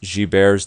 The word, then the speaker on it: Gilbert's: It looks like Gilbert's, but it's pronounced Gilbert's disease.